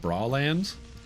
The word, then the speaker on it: Breland: Beef caker and I have to know that Breland is pronounced bal land like lingerie.